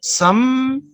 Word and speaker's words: some: For example, some milk. Remember, sounds, not letters. Sounds, some. You don't pronounce the letter E.